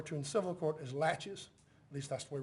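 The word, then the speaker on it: laches: in civil court is latches at least that's the way we pronounce it in this part of the world it's French so I'm not sure if that's proper pronunciation but it's latches what does that mean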